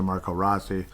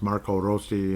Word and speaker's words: Marco Rossi: Roso rosi Marco Rossy I know everyone calls it Marco Rossi and then they say how it's correctly pronounced Marco rosi and he figured just